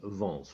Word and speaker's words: Vance: Donc cet artiste s'appelle Phil Vance, comme ça se prononce, V-A-N-C-E.